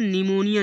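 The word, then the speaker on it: pneumonia: इस प्रकार निमोनिया। निमोनिया means निमोनिया। निमेटिक्स वायु शास्त्र। देखो एन से पहले पी है इसलिए पी को साइलेंट कर दिया।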